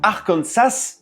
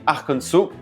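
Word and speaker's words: Arkansas: En gros, si tu prononces Arcansas, donc en disant le s, au lieu de prononcer arcanso, et ben tu es hors la loi et tu pourrais même finir en prison.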